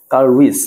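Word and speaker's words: Carl Woese: তাহলে খেয়াল করে দেখো কার্ল উইস না এরকম একটা উচ্চারণ হওয়া উচিত।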